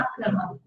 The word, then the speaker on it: क्रमम्: क्रमम, मम नहीं है, क्रमम, क्रमम, क्रम में अपने आप में आ गया ना, 3 बार हो जाएगा क्रमम, ठीक है, मम है वो।